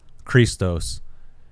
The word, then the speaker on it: Christos: In the Greek language, the letter chi is the first letter in the word Christ, pronounced Christos.